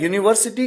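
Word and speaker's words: university: करेंगे यहां पर देखिए भले ही ये वर्ड यूनिवर्सिटी की शुरुआत यू से है जोक एक व वल है लेकिन ध्वनि किसकी है साउंड किसका है वोल का है कॉन्सोनेंट का है तो यहां पर साउंड है कंसोनेंट का क्योंकि हम कहते हैं यूनिवर्सिटी य य से शुरुआत है और य क्या है एक व्यंजन की ध्वनि है हिंदी अल्फाबेट में हिंदी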